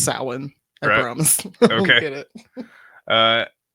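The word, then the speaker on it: Samhain: that it was used in the Festival of Sam Hayne uh bro what it's pronounced sa sa don't don't ask me why I don't know I don't know why it's spelled Sam Haye but it's pronounced Sal I promise get it uh in the Adventure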